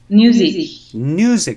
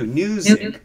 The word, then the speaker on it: Newzik: Newzik, spelled with an N, as in new, brand new, Newzik.